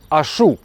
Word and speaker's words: Ашу: Вот этот вот красивый парень, его зовут Ашу. Ударение правильно сказал?